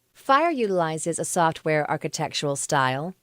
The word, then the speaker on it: FHIR: is abbreviated fhir and is pronounced fire it combines the best